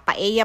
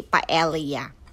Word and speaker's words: paella: to cook My paea paea pala yan ang magpronounce hindi paa kasi Spanish isang paea Okay let's